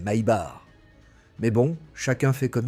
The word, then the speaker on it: Maybach: Je l'ai dit d'un peu toutes les manières dans la vidéo, mais si tu dis Maybac à l'américaine, attends-toi à énerver quelques ingénieurs allemands. La vraie prononciation, c'est My Bar.